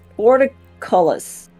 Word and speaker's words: portcullis: Portcullis. Portcullis. Portcullis. Portcullis. Portcullis. You just Portcullis. ignore the U.